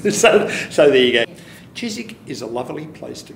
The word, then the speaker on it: Chiswick: just a wonderful place not Cheers WIC check that what will you is silent like a woman get your wuble-u out of the woman language Chizik thanks guys you